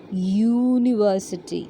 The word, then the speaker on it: university: university you isn't it yes but how we pronounce it it is not university or university it is university okay university so that the starting sound is